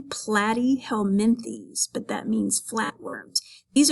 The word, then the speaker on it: Platyhelminthes: You pronounce the Latin name Platyhelminthes, but that means flatworms.